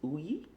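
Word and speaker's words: Ugni: grapes grapes it's spelled eugenei but the correct pronunciation is Ooey and those are actually the same uh grapes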